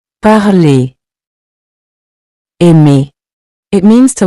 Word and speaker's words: aimer: So remember, even though you see the R in writing, at the end of ER verbs, you don't pronounce it separately.